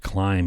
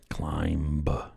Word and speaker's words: climb: take over who knows why does the word climb and in a b climb doesn't make sense if we haven't pronounced it in 400 years maybe we can drop the b climb natural selection or whatever